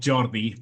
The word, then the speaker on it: Jordi: Well, No, it's actually called Jordi, but yeah, it's a Catalan name, so it's quite difficult.